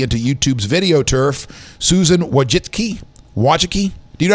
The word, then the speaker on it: Wojcicki: Facebook pushes aggressively into YouTube's video turf, Susan Wojcicki, do you know how to say her last name, Cords? Owen. Not your last name. The CEO of YouTube, Wojcicki. Not even, I'm sure. Wojcicki it is.